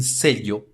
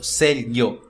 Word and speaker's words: sello: Y, ou letra Y, pode pronunciar-se de maneiras diferentes dependendo da região em que ela se fale. Por exemplo, llave ou sello, como se fosse um LH, ou llave ou sello, como se fosse um I, ou llave, sello, como se fosse um DJ, ou chave, sello, como se fosse no Uruguai e na Argentina.